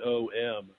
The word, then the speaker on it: Om: when I studied academically oh is om but if you see om is om a m that really is when you can break it into these three syllables and um it was